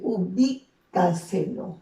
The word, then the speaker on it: ubícaselo: En el caso de ubícaselo, ¿ok? ¿Dónde lleva la mayor fuerza de voz? En la sílaba bi.